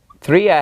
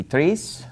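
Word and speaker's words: τρία: count with then vo good news only one form threa has another form three alright and 3c is going to be the form that's used for masculine or feminine so when you're going neuter it's threa when you're doing masculine or feminine it's going to be threes alright tesara also has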